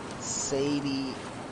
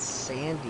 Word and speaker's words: Sadie: They totally butchered Sadie. They said Sandy Adler.